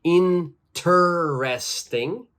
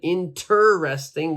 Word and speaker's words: interesting: we do not say interresting okay the first e is silent interesting we don't say that